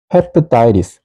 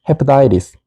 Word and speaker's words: hepatitis: 그리고 발음 기호에 따라 읽어보면 hepatitis, hepatitis, hepatitis 이렇게 읽습니다.